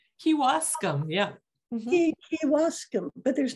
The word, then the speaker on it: Kewaskum: Kewaskum. That's how I pronounce it. Kewaskum. Kewaskum, yeah.